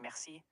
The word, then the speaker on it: merci: Merci sounds like merci, where mer rhymes with bear. C is just like the English word see.